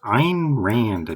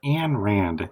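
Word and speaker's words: Ayn Rand: Next is Ein Rand. Not Anne Rand.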